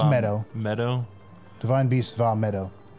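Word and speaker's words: Medoh: It's Meadow.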